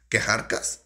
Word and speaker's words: Kjarkas: que arcas vamos a decir que se llama quejar cash no podéis de de me dicen como que se pronuncia el más alto diciendo bien quejar cash de verdaderas de ellos a canción yo sabía